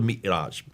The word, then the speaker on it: Mi'raj: But that's where called the Miraj. How do you pronounce it?